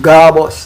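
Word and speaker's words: GABOS: That is known um as the um G A B O S pronounced garbus.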